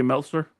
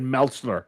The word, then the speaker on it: Meltzer: You say I'm David Meltzer. You say his government name. His name His name rhymes with pretzel.